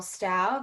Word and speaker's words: Stough: And the two of them together created MDH breathing coordination, which is a direct descendant philosophically from Carl Stau. That's spelled Stough.